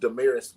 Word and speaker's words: DaMaris: And it's pronounced DaMaris, by the way.